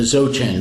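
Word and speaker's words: Dzogchen: his teachings in the xoJane tradition that's a word with a couple of silent letters I saw a spell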